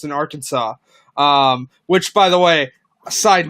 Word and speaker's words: Arkansas: It's in Arkansas. Which, by the way, side note, I don't know why it's called Arkansas when it's spelled Arkansas, but that's a different story.